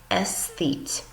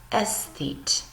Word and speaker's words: aesthete: but the hate is silent so you actually pronounce this word s feet s feet okay how about that it is a person